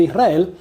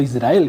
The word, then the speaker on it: Israel: podría llegar a tener Israel, o Israel, como hay que pronunciarlo correctamente.